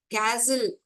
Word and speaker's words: castle: castle, castle, T is silent.